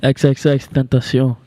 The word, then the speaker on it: XXXtentacion: XXXtentacion.